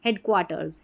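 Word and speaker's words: headquarters: Are asters क्वार्टर्स फिर आर जो है अपन पढ़ ही नहीं पाएंगे। साइलेंट सा रहता है यह हल्का सा। हेड क्वार्टर्स हेड क्वार्टर्स। अब जैसे हेड क्वार्टर्स नहीं बोल सकते ना हेड क्वटर्स तो ऐसे प्रोनाउंस करना है। बिल्कुल सॉफ्टली हेड क्वार्टर्स री आर ई रिसीव्ड।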